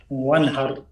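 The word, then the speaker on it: وانحر: ফাসাল্লি লিরাব্বিকা ওয়ানহার, এই আলিফ কই গেল? এখানে একটা আলিফ আছে না? ওইটা ওয়াসাল। ওয়াসাল, কারেক্ট। সেজন্য এটা আমরা উচ্চারণ করি না, এই ওয়াও ডাইরেক্ট নুনের উপরে আসছে।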